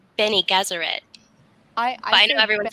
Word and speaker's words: Bene Gesserit: Because I say Benny Gesserit. I know everyone says it different. Bene Gesserit, like Benny and the Jets.